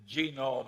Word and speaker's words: genome: mentioned that one book genome I have a hell of a time putting the accent on the first syllable but that is a